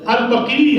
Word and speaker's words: البقیع: کرنا چاہ رہے ہیں۔ تو البقیع ہے، لفظ جو ہے البقیع ہے، جنت البقیع۔ دوسری بات، دوسرا میں